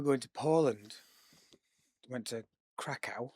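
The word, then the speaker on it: Kraków: to Poland, went to Crackow or Crackoff, I believe is how they actually pronounce it with Ben and he had a guide book.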